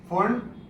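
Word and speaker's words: Pfund: Lyman, बामर, partial, bracket, फुंड और Humphrey. Lyman, बामर, partial, bracket, फुंड और Humphrey. P silent है उसमें, ठीक है। इसे फंड सीरीज बोलते हैं या फंड सीरीज बोलते हैं।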